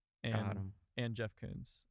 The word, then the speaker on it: Koons: I said his name wrong. Koons, not Koons.